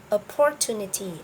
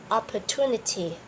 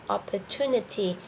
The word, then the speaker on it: opportunity: the correct pronunciation is opportunity opportunity the stress is on the third third syllable okay remember and maybe